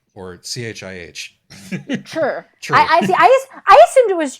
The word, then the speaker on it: Chih: Chur.